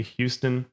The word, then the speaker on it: Houston: When you're out of town, you say Houston. In town, you say Houston, even though one seems to make much more sense than the other.